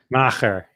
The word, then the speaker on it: Macher: How do you pronounce it? Macher.